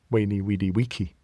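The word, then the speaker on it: veni vidi vici: Weeny wedi or veni vichi. Weeny wedi wiki.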